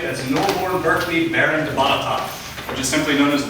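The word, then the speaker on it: Botetourt: in Williamsburg, which looks like it should be pronounced Botitort, but it's Batatai.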